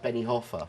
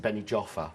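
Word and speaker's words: Benijófar: places places yeah places where i lived like benny hoffa yeah but most people british people pronounce it benny joffer yeah and quesada there's no way anyone would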